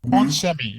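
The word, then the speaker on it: onsemi: yet commercial deal with on semi is basically how you pronounce it while this is a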